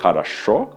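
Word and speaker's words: хорошо: ser diferente por exemplo a palavra acham se escreve com três sócios mas como só o último é tônico os outros dois são pronunciados como a luz então a rússia aprender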